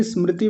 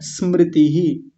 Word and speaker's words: स्मृति: करा देता हूं उच्चारण कुछ लोग इस शब्द को बोलते हैं स्मृति यानी ई लगा देते हैं ऐसे स्मृति कुछ लोग तो स्मृति बोल देते हैं स्मृति इस मृति ऐसे करके मतलब उच्चारण अपने